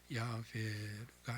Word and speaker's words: 야훼: 정확한 발음은 알 수 없어요. 침묵하면서 왔기 때문에. 이스라엘 사람들은 이 말이 나올 때에 모음자를 바꿔가지고 아도나이, 주라고 바꿔서 불러왔기 때문에, 이게 수천 년 역사이기 때문에 지금도 그렇기 때문에 정확한 발음은 몰라요. 그냥 일반적으로 평균치를 따져서 야훼가 아니겠느냐, 이제 그렇게 짐작을 할 뿐이죠. 어느 교회는 악착같이 야훼라는 말을 쓰는데 100% 정확한 건 아니에요.